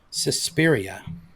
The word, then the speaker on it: Suspiria: multiple roles including a man in 2018's suspiria suspiria that's a great pronunciation i was i was definitely i was